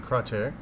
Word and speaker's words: Kratie: actually uh spending the next few days in crer uh and that's spelled k r a TI i e but